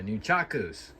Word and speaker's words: nunchaku: and I came across my nunchucks, my new chakus, that's the proper way to say it, but I came across a couple of uh a few martial arts weapons.